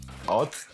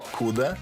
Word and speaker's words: Откуда ты: It's close. It's funny for me. Why? Why? Am I saying it wrong? No. At. От. Oh, ot. Ot. Куда Kuda. ты? Ti. Where are you from? Откуда ты? Откуда ти? That's better. Just, I'm asking you.